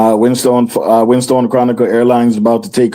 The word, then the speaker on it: Winstone: Give her just type in Winston when you get over there. All right. It's not Winston. You can't pronounce the name good. Winstone. Winstone.